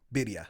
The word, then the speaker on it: birria: Birria.